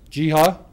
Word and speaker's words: Jeha: Charged is Abdallah, I'll spell that for you, A-B-D-U-L-L-A-H, Amer, A-M-E-R, 18 years of age, and Balal, B-A-L-A-L, Jeha, J-E-H-A, 19.